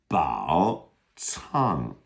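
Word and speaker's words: 宝藏: This is a tough initial is the ts sound and it's it's spelled with a c. So ba tong would be b a o third tone c a n g fourth tone. So again the c is like a t s.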